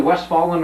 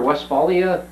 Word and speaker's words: Westphalia: and and Weston was it's either West fallen or Westphalia County or whatever it is the west following is the way that dad used to pronounce it but that was that